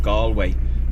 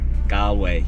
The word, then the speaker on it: Galway: that we're going to is a place called gallway or if you watch uh tourists Vlogs it's they pronounce it gway gway to be honest with you we feel